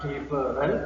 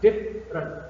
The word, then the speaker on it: different: Different is a word that consists of 2 syllables, not 3, not different, but different. And the stress word, or I'm sorry, the stress syllable is the first syllable. Different.